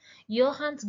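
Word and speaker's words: Johannes: Okay, so 1450ல என்ன நடக்குது அப்படின்னா குட்டன்பர்க் அப்படிங்கிறவர் யோஹான், சாரி, ஜெர்மன்ல வந்து ஜே வந்து யோன்னு ப்ரொனவுன்ஸ் பண்ணுவாங்க. சில நேரம் நமக்கு இது பெரிய கன்ஃபியூஷனா இருக்குங்க. யோஹான்ஸ் குட்டன்பர்க் அப்படிங்கிறவரு என்ன பண்றாரு அப்படின்னா பிரிண்டிங் பிரஸ் அப்படிங்கிற ஒரு விஷயத்த 1450ல இன்வென்ட் பண்றாரு.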